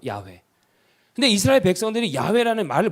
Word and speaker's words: 야훼: 엘로힘이에요 근데이 아도나이 엘로힘인데 원래 정확한 발음은 야외에요 야외 근데 이스라엘 백성들이 야훼라는